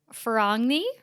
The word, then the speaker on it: Ferragni: said it wrong Kiara fagi I think somebody said it's like lasagna and I was like what but I think they're trying to say the g is silent for all probably I don't know I'm